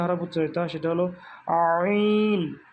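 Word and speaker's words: ع: এই হরফ দুটো উচ্চারণ করার সময় পেটও শক্ত হয়ে যাবে, তাহলে সঠিক উচ্চারণটা বের হবে। চাপ দিয়ে গলায় টিপে ধরলে যেরকম শব্দ হয়, যে আমরা শব্দ করতে চাই কিন্তু বের হচ্ছে না, ঠিক ওইভাবে চেপে উচ্চারণ করতে হবে।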